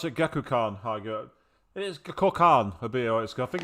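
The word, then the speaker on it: Gekkoukan: Ah, they pronounce it Gekukan.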